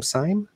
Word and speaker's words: Syme: Please tune in next week when we will have, and help me, Luis, is it Syme? Is it pronounced his last name? Syme? Don Syme?